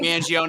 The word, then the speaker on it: Mangione: when I announced it, I was the first one that knew how to pronounce her last name because first and only Mangione, because I think we're